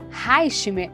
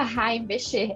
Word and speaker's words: Heimbecher: São Paulo, a Reichmer. É assim mesmo que pronuncia seu nome? Falei certo ou não? Quase lá, Vivi. Heimbecher, é um prazer estar aqui com vocês.